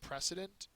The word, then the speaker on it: precedent: is model next one precedent uh precedent for your grades be like an A+ I have that picture um it's a noun first syllable is accented it's an example that